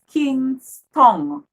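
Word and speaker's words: Kingstown: Ton. Ton. But our capital is Kingston. O as in tongue. TOWN. Okay. So it's very close, as in the pronunciation is very close.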